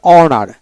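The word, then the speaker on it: honour: এভাবে উচ্চারিত হবে তারপরে অনার এইচ ও এন ইউ আর অনার এখানে কিন্তু এইচ উচ্চারণ হবে না এইচও এন মানে ও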